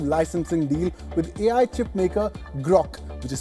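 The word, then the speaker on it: Groq: Finally, Nvidia has signed a non-exclusive licensing deal with AI chipmaker Grock, which is spelled as GR OQ, not to be confused with the XAI model Grock.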